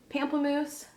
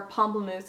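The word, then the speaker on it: Pamplemousse: this last one is pampam moose or pom moose is actually probably how it's pronounced um the highlighters this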